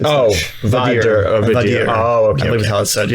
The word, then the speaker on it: Vader: Oh, Vadir.